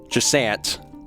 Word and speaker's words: Jusant: They did say that you could pronounce it like Jusant for English audiences, since I'm famously not super good with French.